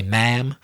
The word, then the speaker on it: ma'am: So the first one was madam in the United Kingdom, M-A-D-A-M, and the second one was ma'am, or I should say ma'am, M-A-apostrophe-A-M in America, a polite form of address that you can use with any woman.